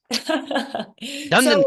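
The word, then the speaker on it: DunedinPACE: latest generation the third generation of the DU dunet and excuse me oh I said it wrong say it right for me so I can be educ say it again DED D yeah D yes okay Dundon Pace sounds so much better it just rolls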